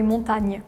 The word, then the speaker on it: montagne: In France, we say montagne. In Spanish, we say montaña. Yeah! Montaña. It's literally the same word, yeah. We just don't have the A at the end. We don't pronounce it.